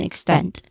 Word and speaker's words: extent: And then extend. The stress syllable is in the second one. Stent, which has a short e sound.